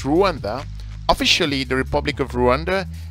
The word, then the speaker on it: Rwanda: Rwanda, if for those of you who don't know Rwanda, Rwanda formally pronounced as Rwanda, officially the Republic of